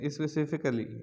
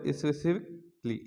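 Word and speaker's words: specifically: automatically automatically আচ্ছা তারপর এতদিন আমরা শিখছিলাম স্পেসিফিক স্পেসিফিক্যালি স্পেসিফিক্যালি না এটা হবে স্পেসিফিকলি স্পেসিফিকলি স্পেসিফিকলি স্পেসিফিকলি কারণ এখানে এ ডবল এল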